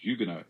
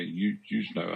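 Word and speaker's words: Huguenot: Deery who was a French Hugo as we say I Americans say h Hugo I think but we say Hugo uh she was living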